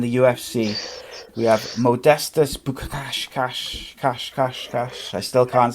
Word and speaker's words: Bukauskas: Tell us it. Bukauskas. You lot said it wrong.